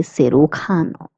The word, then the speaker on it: cirujano: J is pronounced as K, hence we say cirujano.